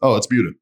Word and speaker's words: Buda: But after I lived here for a while, now I read that word and it's Buda. You know, because there's a town called Buda and it's spelled like that, right?